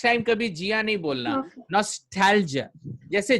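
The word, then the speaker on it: nostalgia: नॉस्टैल्जिया, नॉस्टैल्जिया, नॉस्टैल्जिया। जिया नहीं, हाँ, next time कभी जिया नहीं बोलना, नॉस्टैल्जिया।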